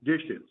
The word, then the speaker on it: DHSES: I am with the New York State Division of Homeland Security and Emergency Services, or more commonly referred to by the acronym DHSES, pronounced DISHES.